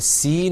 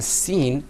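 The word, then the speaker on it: س: And then when you're pronouncing the seen, you're going to pull the corners of your mouth back.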